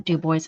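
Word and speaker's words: DuBois: Yes, we pronounce the Dub Boys.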